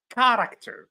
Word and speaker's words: character: All of these words are pronounced or have a ch which is pronounced as good.